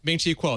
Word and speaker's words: Ming-Chi Kuo: But among financial analysts, and I don't remember how to pronounce his name. Ming-Chi Kuo. Ming-Chi Kuo, that's correct.